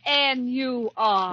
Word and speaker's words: Nur: Entitled N-U-R. It's pronounced Nur.